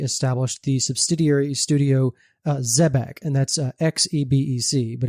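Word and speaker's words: Xebec: uh specifically May 1995 production IG established the subsidiary studio uh Zebeck and that's Xbec but it's pronounced Zebeck and Zebeck's best known for Martian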